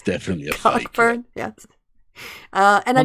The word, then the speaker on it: Cockburn: It's I think it's definitely a Cockburn. fake. Yeah. Yes. And no, because that is a real surname. Yeah. It's pronounced Coburn, but yeah.